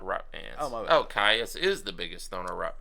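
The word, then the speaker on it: Kyuss: Caius is the biggest stoner rock band. Queens of the Stone Age. I think it's pronounced Kiss, actually.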